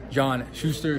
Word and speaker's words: John Shuster: I'm here with Olympic gold medalist John Shuster. Did I pronounce that right?